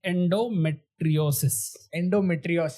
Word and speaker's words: endometriosis: So it is endometriosis. Yes. I'll pronounce it perfectly.